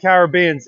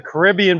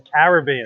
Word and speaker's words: Caribbean: And I've always loved Caribbeans. And to be honest with you, I think I've been mispronouncing it for years. I called it a Caribbean, but you corrected me. It's a Caribbean.